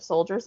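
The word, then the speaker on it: Souldiers: It's not like you'd think of Soldiers. It's SOULDIRS. So Soldiers, I'm going to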